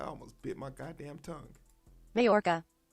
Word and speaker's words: Majorca: sailor in uh in merjark mark mayor jerk ooh somebody say this word for me i almost bit my goddamn tongue majorca mayorka the j is silent mayorka tried to sink